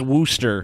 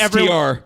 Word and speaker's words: Worcester: It's not pronounced Worcester. You should take a Yeah, it's not cyanide Worcester. pill. It's Worcester. Actually, Yeah, better it's blow your Worcester. brains out so we can be listen, sure. It's Worcester, dude. It's Worcester, dude. That's how it's fucking Or written. because some That's how it's arsenic pronounced. trioxide. You want it to be How about Worcester? that? Spell it Just because WOOSTR.